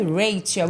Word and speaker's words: Rachel: Meu nome é Raquel, mas escreve Rachel, a De escrita. São Luís para o mundo. Né, mas a pronúncia é Rachel.